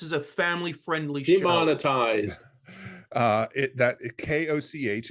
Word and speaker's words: Koch: KOCH, it's a Dutch word. It's pronounced Koch.